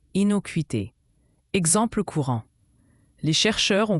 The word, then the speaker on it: innocuité: Inoquuité se prononce inoquité.